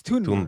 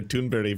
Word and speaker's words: Thunberg: So, because it was th rightberg, but it's Tunberg. Tunberg. Yeah. Okay. Okay. Yeah. Amy Good has been calling her Tunbury for so long.